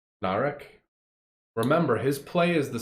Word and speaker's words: Narek: showed her things as a name and it rhymes with barrack narek remember his play is